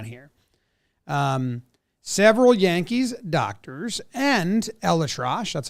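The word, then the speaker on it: ElAttrache: Elatrosh is how they say it.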